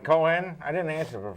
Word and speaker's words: Cohen: Cohen. Not Cohen. Cohen.